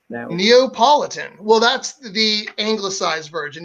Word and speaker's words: Neapolitan: is someone from Naples Napolitan oh so close Neapolitan well that's the anglicized